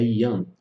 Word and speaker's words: Yang: Um outro breve parêntese que vale a pena salientar é que o G, na pronúncia do mandarim, ele não é pronunciado. Então, quando você fala sobre energia Yang, não é Yang, é Yang. Um outro princípio de relacionamento dessas duas polaridades é a interdependência.